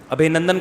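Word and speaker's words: अभिनंदन: ابھی نندن نہیں ہے، صحیح تلفظ کیا ہے بھائی؟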